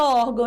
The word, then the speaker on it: órgão: Lembra que nós eh entendemos que a penúltima é a mais forte, mesmo a última tendo um til? Então, se é a penúltima que tem o som mais forte, que é a sílaba tônica, nós classificamos como paroxítona.